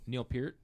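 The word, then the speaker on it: Neil Peart: say his name again Neil Pier is that how you're supposed to say it yes it is Getty Lee has his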